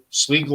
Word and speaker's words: Sligo: I might get this name wrong, Donna. Is it Sligo? Sligo. Sligo.